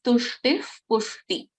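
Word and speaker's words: तुष्टिः पुष्टिः: So tushtihi pushti, we don't pronounce the complete visarga. We will pronounce this as tushtif pushti.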